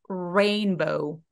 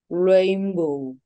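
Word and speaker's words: rainbow: 천장에 닿는데 그게 아니라 입술을 일단 쭉 내미시면 아마 천장에 닿지 않게 될 거예요 자 이제 s로 넘어가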